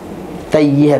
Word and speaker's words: Tayyihan: Betul kan ejaannya? T-A-Y-Y-I Y-Y-I Tayhan. Tayyihan, bukan po, tay.